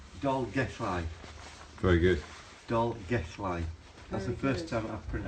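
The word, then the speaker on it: Dolgellau: gu I I doll gu I very good doll gu line that's the first time I've I've said it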